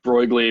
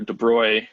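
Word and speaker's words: de Broglie: they have distributions in the broigley or de bruy depending on your pronunciation we get into the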